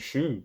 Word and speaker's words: Schuh: It's SCHUH. I don't know how, or SCHUCH. I just looked it up and it was Shu.